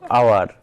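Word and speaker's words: hour: যেমন হলো আওয়ার, তাহলে আওয়ার হলো কি?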